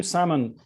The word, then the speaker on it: Salmon: Yeah, Salmon, but with no L, like the fish salmon.